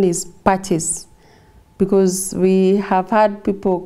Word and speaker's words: Pacis: latin word meaning for peace and the best pronunciation is practice because we have had people calling us passes pisces but it's a latin word meaning for peace